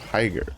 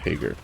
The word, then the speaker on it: Higer: The Higer, not Hager. Higer, that's how you pronounce that.